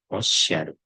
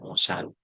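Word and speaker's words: おっしゃる: Osyaru. Jadi bukan osaru osyaru artinya berkata ini kata osaru sebenarnya dari huruf irgana akan tapi di sini saya alihkan ee ke bentuk huruf kena.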